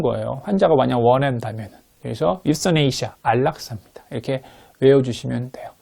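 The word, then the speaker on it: euthanasia: 예, 다시 한번 네이버 언니한테 물어봐고 다시 찾아봤는데 역시 유서네이시아예요. 유서네이시아. 혹시 가끔가다 제가 틀린 발음을 할 때가 있어갖고요.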